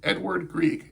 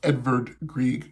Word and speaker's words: Edvard Grieg: grieg what's his name edward greek it's actually pronounced edvard grieg because he's from norway which is a country